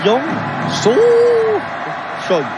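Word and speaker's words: Choi Yong-soo: Il faut insister, hein, il y a l'accent tonique sur So. Hein. Oui. C'est Yong So Choi.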